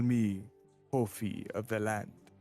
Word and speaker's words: Kofi: They call me Kofi of the land. Coffee? Kofi. Ophi of the land, huh? Kofi. Damn. Wait, spell that again? Like, Kofi. like Kofi, KOFI. like Kofi Kingston.